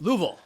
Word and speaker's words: Louisville: That's one word, one syllable. Louisville. Louisville. How do you say it? That's right. It's It's one syllable if you say it right. It's Louisville. Louisville.